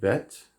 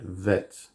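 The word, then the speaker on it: ב: Now, a Bet, you can pronounce it Bet, or you can pronounce it Vet. Slightly different, it's the same letter. The difference is if you put a dot in the middle, it's Bet.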